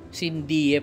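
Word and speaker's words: sine die: Oh pala ibig sabihin non sindie pala ang bigkas non.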